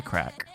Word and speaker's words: craic: in my says the Brit say what's the crack I think it's the Irish that says that